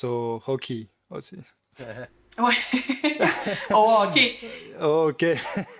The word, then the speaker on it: hockey: Au hockey. Oh, ok. Faut pas prononcer le H au hockey.